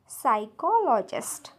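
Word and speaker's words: psychologist: चा उच्चार होणार नाही नेक्स्ट वर्ड आहे सायकॉलॉजिस्ट सायकॉलॉजिस्ट इथे पी आहे स्पेलिंग मध्ये पण त्याचा उच्चार होत नाही कारण इथे पी सायलेंट आहे नेक्स्ट आहे सायकिक बघा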